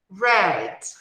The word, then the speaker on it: red: Red. Red. Observa que a pronúncia dessa letrinha do início aqui, a letra R, não é igual à nossa pronúncia da letra R, quando começa uma palavra.